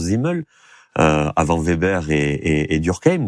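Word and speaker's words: Simmel: premiers sociologues Zimel, donc ça s'écrit Zimel mais ça se prononce Zimel avant Weber et et Durkeim.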